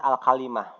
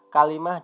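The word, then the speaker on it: الكلمة: domato Fatah atau kasrah jadi al-kalimah saja bacanya meskipun sebetulnya bacanya al-kalim atuhnya alkhalifatu the kita bacanya khalimah bisa kalimah juga bisa nah Apa bedanya khalimah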